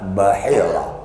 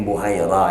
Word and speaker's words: Bahira: Di dalamnya pendeta Bahira. Kalau di kitab lain mungkin Buhaira ya.